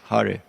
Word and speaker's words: Hare: Not to give you japa class, but just to point one thing to watch out is name of Hari, Hare, is most of the time mispronounced or not even there.